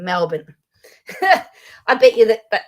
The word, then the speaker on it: Melbourne: It is not Melbourne as people like to say. Yes, it's M L B O U R N E, but it's not pronounced Bourne. We pronounce it as Bin. Melbourne.